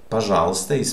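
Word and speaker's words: пожалуйста: you pronounce this word this i is stressed so this will be pronounced okay but this u will not be pronounced so i put it in this color it is not pronounced because there are too many letters and the rule says don't pronounce this in this word so okay which means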